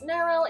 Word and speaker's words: Nyrryl: And for anyone still wondering, my name is pronounced as Neryl. It's like Meryl, but with an N.